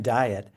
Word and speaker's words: Dyet: Sincerely, Tim Diet. And he says his last name is pronounced diet, but it's spelled dye t.